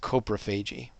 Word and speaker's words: coprophagy: It's pronounced coprophagy.